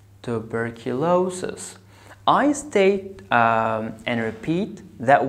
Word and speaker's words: tuberculosis: So I have five parts, tuberculosis.